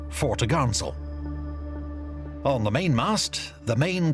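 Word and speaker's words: fore topgallant sail: Her large square sails included the forecourse, 4 topsail, pronounced topsail, and 4 top-gallant sail, pronounced fore-to-garnsail.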